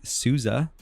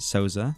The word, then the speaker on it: Souza: with James Spencer and Souza not to be pronounced to Sosa yeah that's true thank